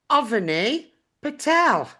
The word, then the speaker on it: Avani Patel: And today I'm joined by Avani Patel. Correct pronunciation?